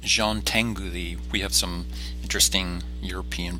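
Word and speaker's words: Jean Tinguely: work within these limitations the next artist is pronounced Jean Tengu thee we have some interesting European pronunciations this week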